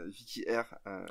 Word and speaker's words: Vicky R: mais le truc, c'est que voilà, du coup, voilà, Vicky R. Voilà, Vicky comme Vicky, puis R comme R. Waouh. Là, tout le monde voit d'un coup. D'un coup, c'est beaucoup plus limpide en fait. Vicky R.